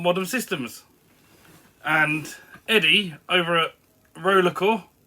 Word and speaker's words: RollerXcore: systems and Eddie over roller cor with a silent X in the middle uh put a VR